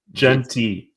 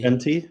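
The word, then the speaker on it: Jeanty: Gentry. Gent Gentry. Gent added a letter. It's like Gen Z but with a t-shirt. Ashton Genty. Genty. Yes. We've literally said it wrong every time.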